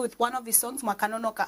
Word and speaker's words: Makanonoka: Oh, we shall end this interview with one of his songs, Makanonoka. I hope I pronounced that one right. My Zimbabwean people, don't come for me. It's Makanonoka, right? I said it right.